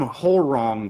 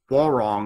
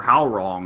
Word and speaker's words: Hwoarang: Don't call him whole wrong. Call him like wall wrong or how wrong or something like that. Pronounce it like the games do.